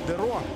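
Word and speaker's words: Deroo: Немножко не Деру, а Деро. Потому что он бельгиец, и в фламандском, нидерландском языке именно О. Двойное О сочетание читается как О, но в английском все привыкли У, поэтому зовут его неверно.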